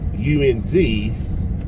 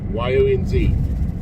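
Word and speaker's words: yinz: It's not YOU/UNZ. It's literally just YONZ, yuns, or YUNZ, however you want to spell it. It's simple, yuns, easy to say.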